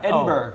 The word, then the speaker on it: Edinburgh: Correct pronunciation. Hold on, go up there. Edinburgh. As a Scot, Edinburgh.